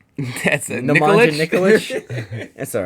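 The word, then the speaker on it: Nikolić: That's way too many syllables. That's a Nemanja Nikolic. Nikolic.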